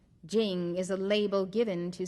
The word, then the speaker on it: Ching: meaning virtue or power spelled te Jing spelled c h i n g Jing is a label given